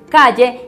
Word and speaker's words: Klle: Se escribe K-L-L-E. K-L-L-E. Calle.